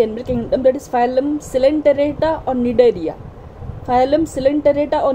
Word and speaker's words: Coelenterata: In this video, I'm going to discuss about another very important phylum of the animal kingdom, that is Phylum Coelenterata or Cnidaria.